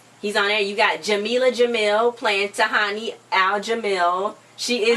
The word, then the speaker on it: Jameela Jamil: Her name is Jameela Jamil in real life. Not Jamil, but the first one.